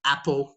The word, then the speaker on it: Apple: We say Apple, Nike, all these types of things. Yeah. So your pronunciation of Apple was a little bit more ah. We want to use that ah.